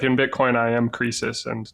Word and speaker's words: Croesus: or should I call you? Croesus. Is how, yeah, I know. I didn't know how to pronounce it either, but it turns out that is how you pronounce it.